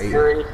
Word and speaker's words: Urie: That doesn't rhyme with Urie. Urie Nazi still ends with the E sound? Okay. No, not even close. Nazi. It's supposed to be like U-R-R-Y. Urie, Nazi, Urie, they both rhymed.